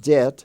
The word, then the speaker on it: debt: owe money it's pronounced debt d-e-t but it's spelled d-e-b-t or as in the word doubt like I doubt it d-o-b-t the BT is pronounced as t now we have the